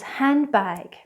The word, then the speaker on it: handbag: There's a silent D in English? Yes, in words such as handbag.